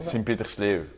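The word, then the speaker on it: Sint-Pieters-Leeuw: I was reading up about your hometown, Sint-Pietersloo, is that right? Sint-Pietersloo. That's how you pronounce it.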